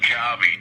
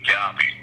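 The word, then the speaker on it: Gaube: It's pronounced Guabe. G-A-U-B as in boy. Guabe.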